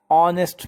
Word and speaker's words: honest: He is an honest man. Here honest is started with the h, but h is silent here. And its starting sound from o, honest man.